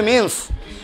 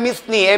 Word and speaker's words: mesne: তাহলে 2-12-তে আছে মিন্স profit, মিসনি profit, কিন্তু উচ্চারণ হবে মিন্স, বানানো হবে মিসনি, MESNE, মিসনি প্রফিট বা মিন্স প্রফিট।